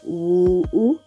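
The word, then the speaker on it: 五: You see, this is it's like a falling tone and then a rising tone. Like, you are coming down and then you are going up. Woo, woo, woo.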